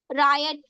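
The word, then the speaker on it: riot: रायट, रायट, राइट रायट, राइट Right. राइट नहीं, रायट।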